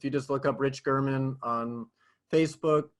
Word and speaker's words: German: Rich German, spelled like German, but pronounced German.